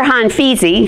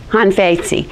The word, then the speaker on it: Han Feizi: you did it you're punished period so remember han feizi who's that's not really how you say his name it's more like like hunt hunt fate see I'm hon fate see so remember him is han feizi because he